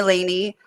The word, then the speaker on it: Laney: do yeah absolutely and it's Laney most people pronounce that wrong just because of the way that it's spelled but um yeah I